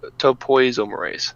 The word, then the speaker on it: topoisomerase: dna primase dna helicase dna ligase and topio topoisomerase sorry that's how to pronounce that so those are the main ones